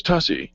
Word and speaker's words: Tuccy: Your last name is Tussy. Yes. It rhymes with fussy.